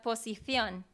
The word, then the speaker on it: posición: Por sí, ejemplo, la palabra position, sí, posición sí, es primero con S y luego con C, pero si sí, tú la escuchas como yo la digo, es posición, sí. mientras que un español diría posición, Sí, ¿cierto?